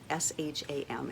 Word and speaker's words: sham: it's very foundational energy s-h-a-m it would really be s with the slant over it like shiva s-a-m with the slant